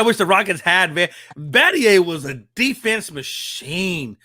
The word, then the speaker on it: Battier: I would have pronounced that as Battier. That's Battier. Yeah, that was 07.